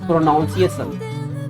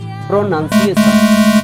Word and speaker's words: pronunciation: This is not pronunciation. This is pronunciation.